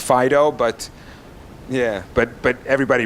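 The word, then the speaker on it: FD.io: that's the FDI Elda which i have on good authority is actually supposed to be pronounced Fido but yeah but but everybody pronounces it FDI oh and the idea is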